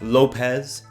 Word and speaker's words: Lopes: safe out of Lopes go ahead someone in the chat to say that it's pronounced Lopes get it over with